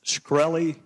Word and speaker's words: Shkreli: chairman is it pronounced skrel II yes sir see there you can't